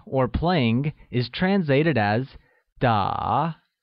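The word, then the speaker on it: 打: playing is translated as da which is pronounced using a falling rising tone making it da very good thus i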